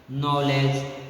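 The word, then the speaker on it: knowledge: के जो होता है क्या हो जाता है, साइलेंट हो जाता है। जैसे कि नाइट, नॉलेज, नॉक, नीड, नी, नाइट, नो, ये नाइट होता है वीर, क्या होता है, वीर या योदा, समझे ना।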